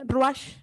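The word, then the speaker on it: רוח: Esto se pronuncia Ruach, que quiere decir espíritu, viento o vientos.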